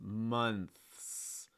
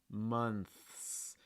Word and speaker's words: months: th and the s months months you need to hear both the th that month and the s months months and this goes back